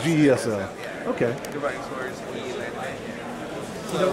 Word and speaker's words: GESL: I want to call it GSL, but is it how do you pronounce it? GESL? GESL. Or GSL? I think it's GESL. GESL.